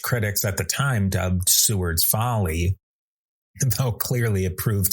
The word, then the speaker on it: Seward: Another Western New Yorker, William Seward or sometimes pronounced Seeword but more commonly Seward, would become a powerful US Senator and Secretary of State during the US Civil War and Reconstruction eras.